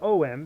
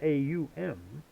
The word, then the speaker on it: Om: Om. This is the three-fold movement. A seen as om because that's the way it sounds. But the Sanskrit word is a or in English a u m and this resonates with